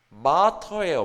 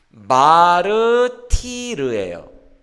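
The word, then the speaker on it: martyr: 마터. 마터라고 읽는데 그 영어의 순교자라는 단어를 제가 한국식으로 발음해 볼까요? 한국식으로 발음이 뭐가 있어요? 애플 막 이렇게 애프을 이렇게 발음하는 것처럼 마르티르예요. 순교자가 스펠링 그대로를 한국식으로 유치하게 발음해 보면 마르티르예요.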